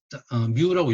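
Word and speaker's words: μ: 자, 그래서 뮤라고 읽고요.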